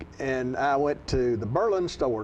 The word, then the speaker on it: Berlin: John, I love the pronunciation in that area of Berlin being Berlin. It's spelled Berlin, but nobody wants to have anything to do with Germany. All they want to do is say it the way they want to say it, Berlin.